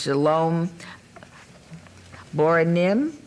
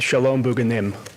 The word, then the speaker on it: Shalom Bugenim: The applicant is Shalom Bora Nim. Okay. Um I hope I did I pronounce that correctly? Uh, madame mayor, it's Shalom Bugenim.